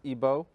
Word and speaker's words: Igbo: comes from Nigeria from the Igbo tribe otherwise pronounced ebo because like always Edom